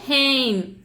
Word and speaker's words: हैं: 2 பேரை குறிப்பிடும் போது ஹெயின், HAIN, இங்கிலீஷ்ல ப்ரொனவுன்ஸ் பண்ணும்போது ஹெயின். ஆனால் நம்ம வந்து சொல்கிறதுக்கு போது ஹே அப்படின்னு தான் சொல்லுவோம். என் வந்து ஹெயின் அப்படின்னு அழுத்தி சொல்ல மாட்டோம். Native speaker.